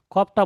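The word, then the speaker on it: ك: আর এটা সিম্পল ভাবে উচ্চারণ হবে, তারপরেরটা কাফ। কাপ। হ্যাঁ, এইটা বলার সময় মুখটা একটু গোল হবে, কাপ। কফ, হুম, আওয়াজটা মোটা হবে। আর এটা বলার সময় সিম্পল, হুম, কাফ।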